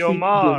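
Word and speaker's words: וַיֹּאמַר: Okay, so there's another thing about this vayomer when you are introducing speech Vayomar. directly. Yeah, of course. It's kind of better to say vayomar. Vayomar, and it stops. That's a stop, and then introduces the speech directly.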